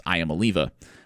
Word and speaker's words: Iamaleava: It's also, if you mispronounce its name, it's Iamaleava.